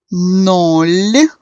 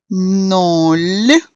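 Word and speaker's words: ноль: Para entender isso melhor, eu vou parar novamente dentro das explicações de pronúncia dos numerais. Os primeiros numerais são nol, nol.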